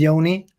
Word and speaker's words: Ioni: fine most people are so my name is Yoni uh based in Sweden and we met